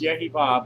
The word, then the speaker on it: YHVH: God is well known as YHVH, which is pronounced Yehovah but never allowed.